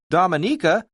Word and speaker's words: Dominica: of the most unspoiled islands in the Caribbean pronounced Dominica this english-speaking volcanic island is home to about